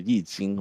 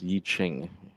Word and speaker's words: Yi Jing: And of course you've heard of the Yi Jing, right? Or pronounced Yi Ching in the West, right?